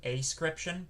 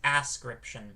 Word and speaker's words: ascription: wanting to pronounce it ascription but it's ascription because if you pronounce it ascription that means without description whereas um the root of this is to ascribe so it's a scription